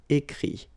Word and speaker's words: écrit: But then phonetically it's I as well because you don't pronounce the final T, okay? Écrire, écrit.